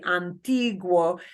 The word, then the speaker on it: antiguo: There, the UO is, okay. Here, we would call this a diphthong because it's two vowels sitting next to each other, and I'm not pronouncing the U, any harder than the O. The two sounds should blend together and get about the same amount of stress. They should blend together to form one sound as much as they can.